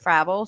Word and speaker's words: Fravel: move on to Adam fraval fral I have a friend whose last name is spelled like that and they pronounce it Fravel so that's why I